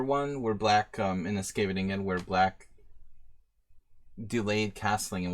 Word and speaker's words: Scheveningen: Corrects me on the pronunciation of Scheveningen. Scheveningen.